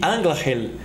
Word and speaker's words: Anglachel: tudo para bandolim sobre a pronúncia de angeli nós vimos lá no tt número 91 que é tipo um guia sobre as pronúncias em élfico que o ch é pronunciado como se fosse no alemão confira o tt 91